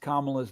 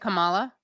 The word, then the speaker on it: Kamala: He mispronounced Kamala's name all through the speech. Oh, he said Kamala? No, I think he said Kamala. Oh, Kamala. Yeah, it's you guys. The way you remember is Mamala, because that's what they call her.